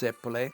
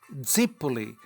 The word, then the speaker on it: zeppole: In Italian it's zeppole, but the Calabrese call it zippoli.